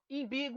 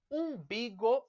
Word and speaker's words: umbigo: vezes acontece o contrário imbigo ou umbigo e aqui vocês percebem umbigo é a pronúncia correta horário Bigo Bigo inodoro